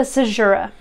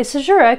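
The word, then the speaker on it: caesura: a conceit next uh a sajura so azura it's spelled kind of unusually there a sajira is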